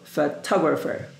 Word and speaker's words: photographer: guests and bridesmaid photographer pay attention to this word the pronunciation I mean this address is in front of letter T yes so photographer camera Christmas Day Father